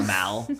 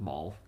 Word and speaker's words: Mal: Maul I have nothing like Darth Maul it's m so Mal okay but I just I don't know for some reason I thought it's pronounced Maul but anyways he wanted